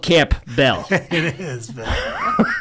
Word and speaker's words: Campbell: It's literally spelled Camp Bell. It is, but it's usually pronounced Campbell. I don't know why I found that's a good one. All right. The P is usually silent.